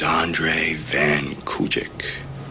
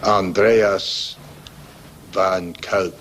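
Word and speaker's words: Andreas van Kuijk: And your name is Andre van Kujic. Andreas van Kuik.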